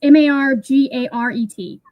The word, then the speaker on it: Margaret: It's pronounced Margaret by most people. Um, although if I'm spelling it to someone, you'll you'll hear me pronounce it Margaret. Kind of like galinda. Yeah. Um, yeah. It's they no one pronounces the second A technically.